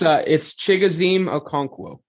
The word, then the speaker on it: Chigozie Okonkwo: Pronounce his full name again, because Uncle Dave can't. It's Chigozie Okonkwo.